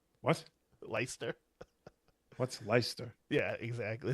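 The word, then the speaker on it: Leicester: Treasure say Lyster. What? Lyster. What's Lyster? Yeah, exactly. It's like Worcester except so it's L E I C E S T E R.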